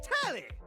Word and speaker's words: Telly: The name's Tally. Rhymes with Nelly. Like, whoa, Nelly. Did you know Telly offers 5,000 channels like an endless deli?